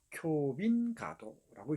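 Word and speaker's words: 京浜街道: 경빈가도, 교빈가도라고 읽습니다. 동경의 경자, 요코하마의 빈자입니다.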